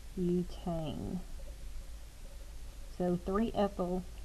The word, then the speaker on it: butane: chain that prefix this but that's a long u sound not a short u sound so this would become butane so three ethyl 2